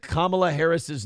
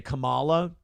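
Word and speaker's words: Kamala Harris: but either way, uh she apparently said Kamla Harris's name wrong. And I don't know if you know this, but the new talking point is that if you say Kamla Harris and you say Camala, like the Ugandan giant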